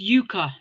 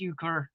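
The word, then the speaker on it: euchre: Yeah, that's the British pronunciation is yuka and the American pronunciation is yuker.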